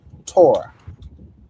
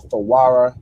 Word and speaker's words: Torah: which is the um the Jewish mind pronounced this as Torah. All right, Torah or Thawara means law, right?